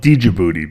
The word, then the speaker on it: Djibouti: Yeah, we used to call it Djibouti because it has the D in it. Yeah, the D is silent. Yeah, the D is silent.